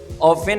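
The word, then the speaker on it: often: जो काम करते हैं, ऑफन और ऑफ्टन दो इसकी प्रोनाउंसिएशन है, अक्सर या बार बार,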